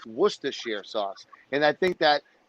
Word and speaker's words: Worcestershire: It's pronounced Worcestershire sauce.